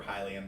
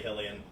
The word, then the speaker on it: Hylian: he's not a kokiri he's a hillian slash highly and take your pick on however you want to pronounce it shocking i prefer hylian but that's just because it rolls off the tongue better well it's hyrule isn't it yeah it is but some people still say hellion to me hillian sounds